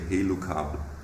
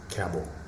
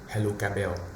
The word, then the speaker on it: HELUKABEL: But how do you pronounce this name in German? You say HELUKABEL. Yeah. HELUKABEL. HELUKABEL. Okay. I'm really curious about how our international colleagues say its name, because in Vietnam, we normally say HELUKABEL.